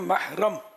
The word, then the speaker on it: محرم: یہ محرم بولتے ہیں، محرم، میم ہا زبر مح، لیکن آواز وہ زیر کی نکلے گی، محرم، جس سے